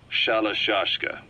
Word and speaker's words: Shalashaska: the name amongst themselves by the time I got to hearing about it pronunciation had wound up as shallow sheshka so half gulag have